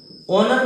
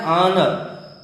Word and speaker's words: honour: इस शब्द का उच्चारण होता है आन। आना मतलब सम्मान करना। गौर करिए, ऑनर नहीं होता ये है आनर।